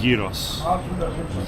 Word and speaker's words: gyros: But you cannot, when you're in Athens, you cannot pronounce it like that. Gyros. Gyros. As far as I know, from what I've been told, gyros.